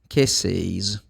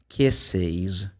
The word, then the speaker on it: kisses: The plural, kisses. You add one more syllable for the plural. Look, kisses.